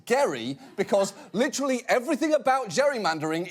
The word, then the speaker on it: Gerry: wrong to notice that the jerry in gerrymander refers to a guy whose name was actually pronounced gary because literally everything about